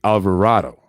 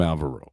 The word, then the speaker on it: Alvarado: perez yes and jose alvarado and i say like that because i've been saying it wrong i've been calling him alvaro and that's because i know a gentleman by the name of alvaro so i'm sorry about